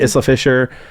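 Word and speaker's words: Isla Fisher: this iser how do you say her name Isa fishera that word is ISA Isa Fisher how am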